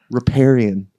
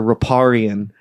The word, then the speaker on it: Riparian: Death metal band, Riparian or Riparian, Riparian. What have you heard? what mispronunciations of your band name have you heard so far? Those are the main two right there, I think. Riparian is the one. Riparian? That we get the Yeah.